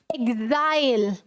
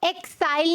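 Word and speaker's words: exile: इसे आप एक्साइल नहीं बोलोगे, you will pronounce it एज एग्जाइल। ई जी, यहाँ पे ई एक्स नहीं प्रोनाउंस करना है, इसे क्या प्रोनाउंस करना है? ई जी, एग्जाइल। क्या बोलोगे? एग्जाइल, एक्साइल नहीं, एग्जाइल।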